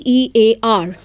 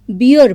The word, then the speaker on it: bear: so we have seen normally the word be b e a r is pronounced as beer by some people but it is not b